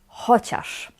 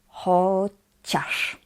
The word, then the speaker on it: chociaż: The word is "chociaż". Remember that "ci" is always pronounced "ć". That's why we say "chociaż".